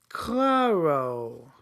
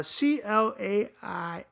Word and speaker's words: Clairo: Claro. Am I saying it right? Charm. It's a Clairo.